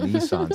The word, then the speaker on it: Nissan: you got a a a Nissan see that's how you say it correctly it's not niss niss niss why we beat the